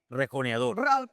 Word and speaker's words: rejoneador: He's known for being a rejoneador. How do you say it? Rejoneador.